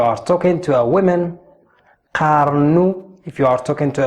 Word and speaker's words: قارن: talking to a woman, قارنوا if you are talking to a plural, to a group of people. So let's try and work the pronunciation. قارن. The letter ق comes from here.